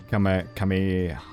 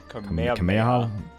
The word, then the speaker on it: Kamehameha: King Kamehameha Kamehameha Kamehameha Yeah, I think the H is fairly silent.